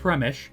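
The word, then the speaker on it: Przemyśl: To summarize all the topics covered more seriously, firstly, Premish is spelled like that. It's pronounced something like Premish, but Polish pronunciation is something far beyond any Anglophone can comprehend.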